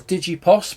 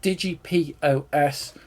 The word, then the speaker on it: DigiPOS: This is originally I thought it was DigiPOS, but it's actually pronounced DigiPOS commercial retail kiosk computer.